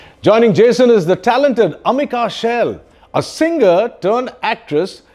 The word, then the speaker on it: Amika: you pronounce your name Amika in Bengali how do you say it Oma Oma there you go let's